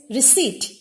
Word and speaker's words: receipt: is then there is receipt receipt now here receipt it is not received it is receipt p is silent the sound of which